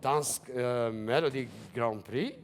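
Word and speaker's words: Dansk Melodi Grand Prix: So, you won Dansk Melody Grand Prix.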